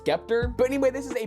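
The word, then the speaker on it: Sceptre: thing wrong for a long time apparently it's pronounced skepter but anyway this is a basic 24 inch scepter monitor nothing special it's a 75hz display i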